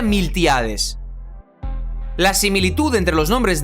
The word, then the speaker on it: Miltiades: mucho tiempo en Persia en griego el nombre de milcíades se escribe con t en vez de C y se pronuncia miltiades la similitud entre los